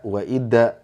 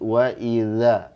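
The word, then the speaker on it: وَإِذَا: Nah, kesalahan umum kadang jadi da wa ida. Nah, ini salah. Harus lembut, wa idza, wa idza.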